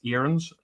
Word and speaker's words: Aarons: Um, but m Max is its or I thought it was Arens. Now I'm being told it's it's pronounced as Max Erenss.